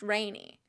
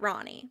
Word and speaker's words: Rani: rain is water so maybe her name is pronounced Rainey and I've just been pronouncing it that way in my head for God like 15 years so I'm gonna make a concerted effort to pronounce it Ronnie because that is the correct pronunciation I like